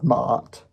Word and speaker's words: Ma'at: against the feather of Ma'at, M-A apostrophe A-T. I think it's pronounced Ma'at because that's how I hear it a bunch. So that's what I'm going with.